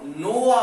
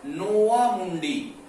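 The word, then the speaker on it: नोवामुंडी: झारखंड में सिंहभूमि जिले के गोवा, गोवा नहीं, गुआ और नाव और नोवा मुंडी, जिसे कभी कभी नाव भी बोल देते हैं, लेकिन इसका शुद्ध उच्चारण है नोवा मुंडी, से हेमेटाइट प्रकार का लोहा प्राप्त होता है।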